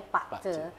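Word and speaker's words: 八字: Ya Pak Ce, tulisannya Bazi, bacanya Pak Ce.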